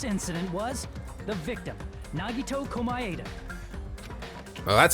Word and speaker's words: Komaeda: The person who actually arranged this incident was the victim, Nagito Komaeda. Well, that's how you pronounce the last name.